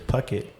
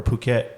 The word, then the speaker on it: Phuket: ] it yeah uh-huh but that's what i thought it was how you pronounce it but of course it's puckett or phuket phuket sorry yeah yeah there's